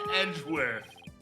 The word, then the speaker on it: Edgeworth: spell the whole unorth worth worth now it's pronounced Edgeworth the ding bat dogs you mentioned wouldn't happen